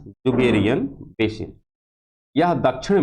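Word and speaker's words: Dzungaria: बेहतर ढंग से देखिएगा यहां पर डी है लेकिन डिश साइलेंट है इस प्रकार से जो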